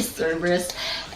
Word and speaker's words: Cerberus: I'm not gonna spoil anything, but if you want to know more about Cerberus, and I'm saying it right today, Cerberus, and I definitely think you should get this one.